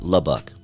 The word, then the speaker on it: LA Buck: Trey Dog, Salt Rock, Woodlock, Bakenut, Cookie Crumble, and LA Buck, pronounced Labuk."